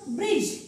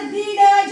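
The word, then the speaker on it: bridge: काय येतं डी पण आता बिडज असं नाही वाचलं आपण याला फक्त काय वाचलं आपण ब्रिज मग ह्या शब्दांमध्ये ब्रिज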